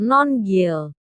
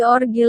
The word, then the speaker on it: Nongil: Nama aplikasi mereka adalah Nongil. Jangan salah pengucapan jadi Orgil lo guys.